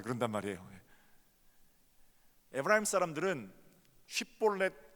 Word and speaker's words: 쉽볼렛: 에브라임 사람들은 쉽볼렛 이 발음이 안 돼요. 사투리를 쓰는 게. 그 사람들은 매일 십볼렛 이렇게 발음합니다.